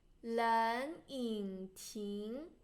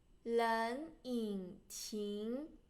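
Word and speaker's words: 冷饮亭: And remember there's two third tones you pronounce the first one to second tone. 冷饮亭, 冷饮亭.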